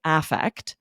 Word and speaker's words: affect: an A, spelled the same, this meaning, and it is pronounced differently, affect.